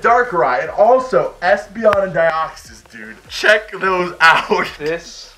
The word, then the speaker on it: Deoxys: It rhymes with osmosis. Deoxys. Deoxys. Not anti-deoxysins, but it is Deoxys.